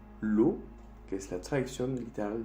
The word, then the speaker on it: l'eau: E-A-U-X hace también el sonido O. Por ejemplo, l'eau, que es la traducción literal del agua.